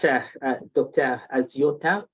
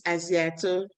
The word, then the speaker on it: Aziato: Thank you so much, Dr. Aziota, for a very interesting the name is Aziato. Aziato, thank you so much Yes. for the correction in the pronunciation. Thank you have raised important